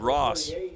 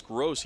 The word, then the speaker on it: Gross: believe number 48 Bob Ross I guess they changed the name here at the PA announcer he said Ross the last or cross the last time but it's gross he pronounces it now so gross with